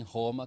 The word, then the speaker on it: Roma: And I'm noticing, I think he said Roma. So he's pronouncing the R as an H, as an aspiration.